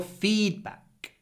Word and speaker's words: feedback: thank you for your feedback feedback you really need to stretch the feed feedback feedback your feedback